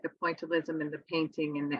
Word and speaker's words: pointillism: I mentioned in class, punctualism. The great technique of French painting. Is my pronunciation bad? Pointillism.